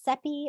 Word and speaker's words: Cepee: yes like Shauna said my name is sepi rhymes with peppy is what I say um I'm located